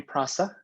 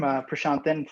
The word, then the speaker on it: Prashanthan: for a warm introduction please feel free to call me prasa that's the short form prashanthan for any of you who want to pronounce it i have a jam-packed